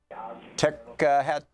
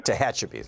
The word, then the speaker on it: Tehachapi: taking and answering your calls and Anthony in tech hat how do you say that Anthony I know I screwed it up before what in California there hi Tom what's the name your town mister hatchapee California Tehachapi thank you you're on the air with Carson